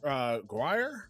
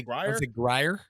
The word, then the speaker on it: Grier: They hire Mark Guire. I want to say it like that. Mark Guire is the new general manager, the first black person to Grier? ever hold that position. I'd say Grier. Yeah, Grier.